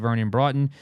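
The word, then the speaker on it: Vernon Broughton: And obviously, you drafted Vernon Broton.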